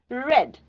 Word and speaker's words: read: this will remain same read the only the pronunciation changes read red okay cut past tense